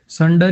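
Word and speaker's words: sunder: संडर ही है, संड, संड, आर तो ये लास्ट वाला खा ही जाते हैं लगभग, है ना।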